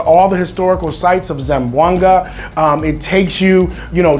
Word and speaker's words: Zamboanga: It's actually Zamboanga.